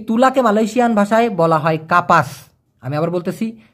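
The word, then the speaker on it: kapas: তুলা মানে ওই যে আমরা বালিশের ভিতরে যে তুলা দিয়ে বালিশটা বানাই আর কি, সেই তুলাকে মালয়েশিয়ান ভাষায় বলা হয় কাপাস। আমি আবার বলতেছি, কাপাস মানে হলো তুলা, কাপাস।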